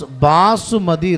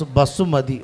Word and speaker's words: basmati: Basmati. What do you pronounce? You pronounce Basumati rice. We Keralite pronounce Basumati.